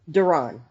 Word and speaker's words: Duron: Is that how you pronounce it? Duron.